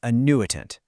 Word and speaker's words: annuitant: So first up, let's meet the star of the show, the annuitant, and that's pronounced annuitant.